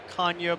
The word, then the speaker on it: Canha: He started to explain to us the Portuguese heritage, and it's really Canha, but since we've been in America, our kids have been raised this way.